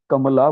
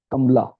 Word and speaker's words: Kamala: ध्यान रखना, south Indian लोग कमला बोलते हैं, नॉट कमला, इसलिए एम के बाद ए लिखना मस्ट है। ठीक है, यहाँ पे आप लोग लिखोगे तो कमला लिख दोगे, KAMLA, ऐसा नहीं है। इसकी स्पेलिंग है KAMALA, कमला दास।